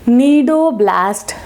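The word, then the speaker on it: cnidoblast: cells are known as nidoblast cells. They are known as nidoblasts. Starts from C, C is silent.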